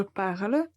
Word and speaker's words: parle: la conjugaison ce que la lettre e finale on ne va pas le prononcer donc quand on écrit je parle on va avoir eu pour l'être finale mais en fait on ne va pas la prononcer et on va dire je parle il n'y a pas